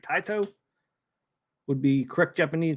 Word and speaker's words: Taito: not sway the vote taito would be the correct Japanese pronunciation so I think it's time the poll is closed it's time to blow up area 51.